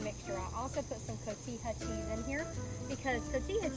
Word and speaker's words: cotija: little bite on there not to be confused with cohita which i think is the way we always pronounce it but it's cotija it's called i'm gonna just finely